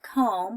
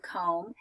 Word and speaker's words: comb: gonna come my hair right I'm going to comb my hair so whenever we write the word comb or we read the word comb the bee is silent okay there's another one